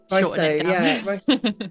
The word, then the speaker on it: Riso: It's just Riso, yeah, Riso, yeah. There goes me. I should just keep it to one syllable or two.